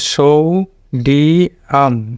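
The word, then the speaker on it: sodium: হলো এটা হবে ইয়াম তাহলে এখানে ডি ডি আম আলাদা হবে সৌ আলাদা হবে তাহলে সৌ এর উপরে স্টেজ পড়েছে যে স্টেজ মার্ক তাহলে সৌ ডি আম সৌ ডি আম তো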